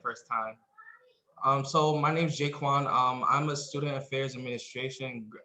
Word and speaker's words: JaQuan: Pronounce it. It's okay. It's JaQuan.